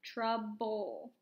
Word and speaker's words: trouble: You don't hear the E, just bowl, trouble, quiet E.